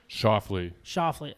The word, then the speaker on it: Schauffele: Is that how you say it, John? Schauffele? Schauffele. So yes, would have been the answer. Correct. Okay. All right. I did say it right.